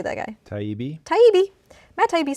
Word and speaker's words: Taibbi: Taibbi.